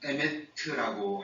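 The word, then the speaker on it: אמת: 원어는 에메트라고 합니다. 그렇게 발음이 되는데 이 에메트라는 진리라는 단어로 번역된 원어의 의미는 신실, 성실, 충실이라는 기본적인 의미를 가지고 있습니다.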